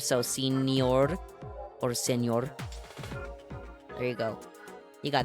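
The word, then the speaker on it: señor: Anyways, senor scuffs. Are you looking for senor with the en senor scuffs with the the n with the the squiggle on top.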